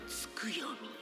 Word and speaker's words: Tsukuyomi: Skuyomi.